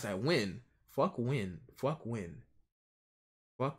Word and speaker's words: Nguyen: The last name is pronounced Win.